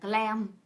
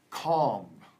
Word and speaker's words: calm: Điềm tĩnh hơn, thì bạn lại phát âm thành clam. Clam, yeah. So I think what she wanted to say, knitting makes me calm.